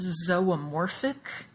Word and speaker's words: zoomorphic: pause and do that please the word is pronounced zomorphic and morph that we see here on the